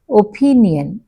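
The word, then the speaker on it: opinion: ఇన్ the word ఒపీనియన్ ఒపీనియన్ ప ఎక్కువ వినిపిస్తుంది కదా సో ఆ ప ముందు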